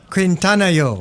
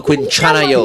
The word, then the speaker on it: 괜찮아요: Shalini, how do you say are you okay? 괜찮아요. Quintanayo. No, Quinchanayo. Yeah.